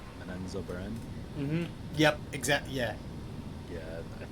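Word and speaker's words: Menzoberranzan: How did they pronounce it? Menso Baron. But the real way, I forgot what it was. It was like they emphasized these middle letters. Menenzo Beren.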